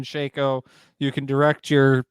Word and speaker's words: Shaco: shaco and yonei and if you think it's shackle or any other pronunciation other than shaco you can direct your